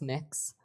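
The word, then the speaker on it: Mx: what you're you're proposing it's pronounce mix um mix is that how you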